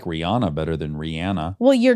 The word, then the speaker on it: Rihanna: yeah, who says Rihanna? Rihanna says it Rihanna. So her name is Rihanna. Oh. Okay, I'll adjust. But people are stuck in their ways. Yeah, I like Rihanna better than Rihanna.